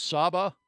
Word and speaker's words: Saba: are you talking about saba and uh I think it's Indonesia or something no there's an island called Saba sa and that's how they say it in the Caribbean and it's truly unique